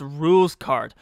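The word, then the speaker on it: Rouxls Kaard: Oh wait, it's pronounced rules card.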